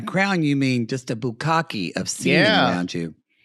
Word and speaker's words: bukkake: It's like, is that how you say it? I'm like, no, it's bukkake, you rube.